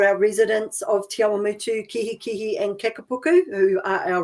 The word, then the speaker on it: Kihikihi: and Kihikihi subdivision of the Awamutu, is it Kihikihi Community Board? Yeah, you did pretty well. So Awamutu and Kihikihi, that's right on the money.